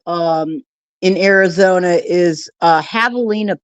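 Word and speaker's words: javelina: in Arizona is uh havalina pigs. It's but it's spelled with a J. J A V E L I N A Havalina pigs.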